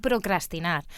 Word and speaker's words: procrastinar: y lo diga pero la manera correcta de decirlo es con dos rrs que es un poquito complicado de pronunciar no decir procrastinar entonces es posible no